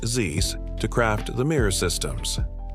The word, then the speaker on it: Zeiss: Zeiss, pronounced Zeiss, to craft the mirror systems.